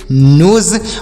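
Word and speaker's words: nose: देखिए यस से यहाँ पर स नहीं होगा, यस से स भी होता, लेकिन यहाँ पर यस से ज होगा, तो इसे पढ़ेंगे नोज।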